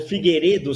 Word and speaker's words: Figueiredo: bem eu gostei que a deputada falou Figueiredo sem o i e ela perguntou se a pronúncia estava correta ele concordou quer dizer ele nem